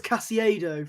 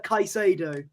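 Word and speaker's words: Caicedo: I've been saying I've been saying it as casiado for some reason like he's Italian but his name is uh kaisado that's how uh that's how it's pronounced so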